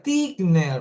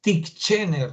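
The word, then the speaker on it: Titchener: estructuralismo es Edward tigner Fíjate cómo se escribe y Cómo se pronuncia se pronuncia tigner así de frente tigner no es Tiger no tigner Edward tigner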